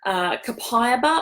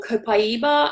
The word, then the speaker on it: copaiba: are great that we've talked about before is Copiah or copaiba as it's correctly pronounced provides antioxidant support and soothe the nervous